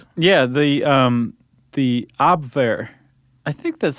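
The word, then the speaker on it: Abwehr: The um the AB, I think that's how you pronounce it. You're the one who knows German. AB, is that right?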